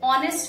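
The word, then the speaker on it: honest: ठीक है, उसके तुलना में यदि हम अंग्रेजी को देखा जाए तो कई अक्षर उसमें साइलेंट होते हैं। ठीक है, जैसे ऑनेस्ट हम बोलते हैं, लिखते हैं क्या, हॉनेस्ट।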